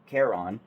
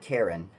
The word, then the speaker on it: Charon: Charon. It's not Karen, it's Charon. It's spelled with a CH, which throws me off completely.